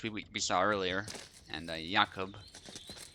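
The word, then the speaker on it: Jakub: we saw earlier and yakob I think that's how you pronounce it in Polish that's actually my name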